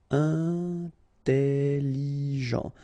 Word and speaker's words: intelligent: Intelligent. Double L, it opens the pronunciation of your E, so it's E.